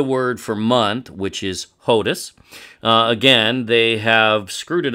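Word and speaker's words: חודש: In ancient Hebrew, by the way, there's no CH. It's just H. Who knows where that comes from? It sounds like something from Slavic languages, which would make sense because it's Yiddish in pronunciation. Likely never actually Hebrew.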